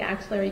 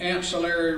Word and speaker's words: axillary: axillary region or the axillary crease, where your axillary crease is basically your armpit and the crease is behind your arm. And you describe that as the ancillary region? Axillary. AX. Axillary.